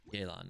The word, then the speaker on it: Yelan: You say, I say it like yay. Yelan.